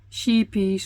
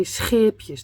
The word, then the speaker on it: Scheepjes: Many podcasters always say how to pronounce sheepies or sheepjes, but we say scheepjes. That's really hard for people that don't live in the Netherlands. You write it with a SCH, and that we pronounce that as scheepjes.